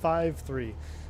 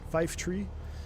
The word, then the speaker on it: Fife Tree: Are you team Fife Tree or team 5-3? I'm Brazilian, so obviously Fife. Well, Fife Tree is the proper pronunciation. Fife Tree is proper.